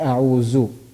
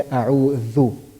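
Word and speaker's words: أعوذ: I can't say a'uzu. I have to say a'udhu. The tongue has to come a little outside.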